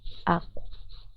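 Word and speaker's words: aku: Sabemos que en la escritura imara solo existe la i u a. Entonces voy a cambiar automáticamente esta a la u. Aco. La pronunciación es aco. La escritura eso. Ya con la u.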